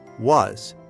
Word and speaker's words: was: Was. This means what? Another essential question word. What is that? Was the S sounds like a V here. Was.